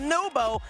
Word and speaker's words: Naupo: Naupo, NWPO is pronounced Nubo.